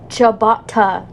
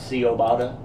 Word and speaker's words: ciabatta: in our sanity laughs ciabatta yeah not see obada I've heard yeah ciabatta they even got a